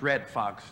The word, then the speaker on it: Redd Foxx: you applaud it i hope you got my name correct it's red fox r e double d f o double x and i'm blowing no